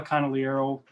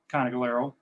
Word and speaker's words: Conigliaro: My grandfather, Nicola Conigliaro, was second cousins with Tony Conigliaro. And you notice how I pronounced the name two different ways there. There's the Sicilian way which I pronounce it, and then the Americanized version.